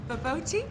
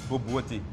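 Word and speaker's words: bobotie: It's baboti? Baboti. You pronounce it boboti.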